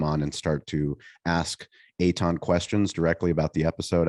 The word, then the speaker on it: Eitan: also just listening, my name is spelled nothing like it's pronounced. That is correct. Eitan. You can search on all platforms and follow me. Eitan, you might be like Ayton, Aytan. It's Eitan. And does that make sense?